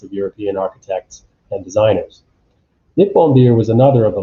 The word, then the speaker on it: Nippon: So we have Japan Beer at the top left, Nihon Beer, Nippon being the original pronunciation, the native pronunciation of Japan.